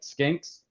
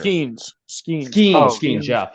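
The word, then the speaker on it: Skenes: If Pittsburgh didn't have, I can never pronounce his last name right, Skinks. The pitcher. Skeens, yeah. If they didn't have Paul Skeens right now, they would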